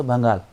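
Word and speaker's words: भंगाल: ठीक है, and Kullu Kullu and बड़ा बंगाल, ठीक है, बड़ा बंगाल, बंगाल इट्स बंगाल नहीं, इट्स बंगाल, बंगाल ऑन the south side of the east and Chamba and Zanskar on the waste.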